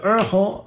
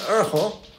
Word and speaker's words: erhu: En de Urgel, zo spreek je het uit als het goed is. E-R-H-U.